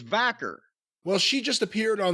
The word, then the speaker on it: Vaquer: it's kind of fascinating Stephanie vur if I am pronouncing her name correctly I think it's vaker well she just appeared